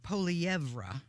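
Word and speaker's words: Poilievre: Parliament we'll see but their conservative leader Pierre poeva I believe that's how you say it you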